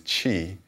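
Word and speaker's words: 气: The Chinese pronunciation of that energy is qi. In Korean, it's ki.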